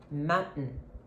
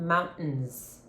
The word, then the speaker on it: mountain: pronounce the letter T it's not a real t a true T but you are going to stop the team it comes from here it's a gluto sound um sound effects Mountain I got a new